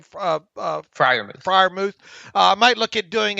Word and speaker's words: Freiermuth: How you pronounce his last name? Freiermuth.